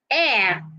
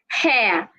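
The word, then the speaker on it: heir: the H simply say air not hair the H in the word h e i r is silent so do not pronounce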